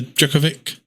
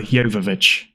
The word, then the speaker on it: Jovovich: It's Mila Jovovich. Okay, well, I don't know. I'm sorry. Mia Jovovich is always how I thought it was. I thought it was Mila Djokovic. I thought it was Djokovic, like the tennis player.